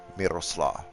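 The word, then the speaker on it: Mirosław: The L with a slash through it. Miroslav. There's no reason to roll the R.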